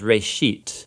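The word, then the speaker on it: ראשית: a Hebrew word uh it's pronounced Ray sheet and it just means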